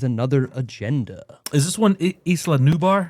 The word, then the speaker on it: Isla: Is this one Isla Nubar? Isa and Isla. You have to say it like that too, right?